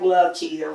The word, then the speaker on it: Likia: That everybody wants to spell it. I know it sounds like Likia, but it's Likia.